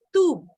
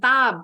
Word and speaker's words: tube: Tadi nih bacanya tube. Bukan tab. Kalau tab nggak ada E-nya.